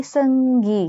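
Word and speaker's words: 승기: Lalu kayak contoh ada Lee Seung-gi, gitu kan juga Seung ya, itu U-nya tidak terbaca ya teman-teman, itu harus diperhatikan. Jadi, bacanya hanya E saja.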